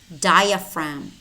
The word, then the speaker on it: diaphragm: And we also have words which contain the letter G, but it is silent. Gnome, rain, diaphragm, sign, Nash, gnat, design, design, campaign, foreigner, tongue, resign.